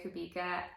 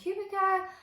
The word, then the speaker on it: Kubica: say her name so friends I've been saying Kubica but after a little bit of digging and watching a few live interviews with her it's could be good so lesson learned